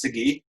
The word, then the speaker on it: Sagi: It's pronounced Sagi.